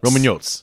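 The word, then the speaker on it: Romaniotes: meet the romanes is that right I said pronounce it Roman Roman yot Roman yotes Roman can you tell us about it well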